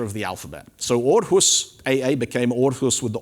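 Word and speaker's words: Aarhus: it's pronounced ah but orus goes at the end because it's in Scandinavia and it's pronounced or this makes perfect sense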